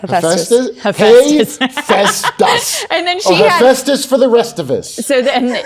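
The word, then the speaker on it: Hephaestus: do you say itest Festus and then she Festus for the restus so then she had yeah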